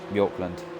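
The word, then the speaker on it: Bjørklund: Apparently it's pronounced like B-I-O-R. But... Yeah, Bjorklund.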